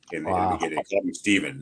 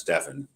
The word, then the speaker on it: Stephen: Nike doing the pitch mispronounced his name Stephen and that's Stefan and then the the